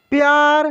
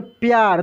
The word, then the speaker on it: प्यार: देखिए आधा प है और फिर पूरा यह है, देखिए प्यार। तो इस प को तेजी में पढ़ रहे हैं, जो भी आधा अक्षर होता है उसको तेजी में पढ़ा जाता है।